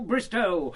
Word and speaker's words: Bristow: Bristol... Bristow, O, Bristow, rhymes with no.